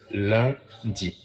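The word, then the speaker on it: lundi: right Monday in French is spell l u n d i Le and we say Le D okay how do we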